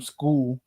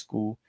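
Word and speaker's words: Scull: of Canelo versus William School is I just learned that's how you pronounce his name. It's not Skull, it's School. School was in there just to survive.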